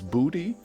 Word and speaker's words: Buddy: Now, Buddy, I believe, said it's pronounced in his native country of Germany, Deutschland, as Booty. Booty, I think, is how he said. The emphasis is kind of on the U there.